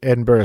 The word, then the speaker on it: Edinburgh: in Edinburgh and what is life like in Edinburgh Scotland first of all everybody pronounces it wrong right yeah you're pronouncing it